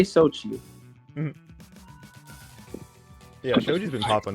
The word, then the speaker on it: Xochi: But you could just say Xochi.